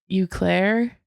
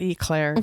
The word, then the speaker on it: Eau Claire: How do you say that? Eau Claire? Not Eclair.